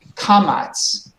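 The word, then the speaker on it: קָמַץ: Kamats. Together, kamats. Cover. Very nice. And the second one is patach. Together, patach. Pata. Beautiful, very nice. So these both make the ah sound.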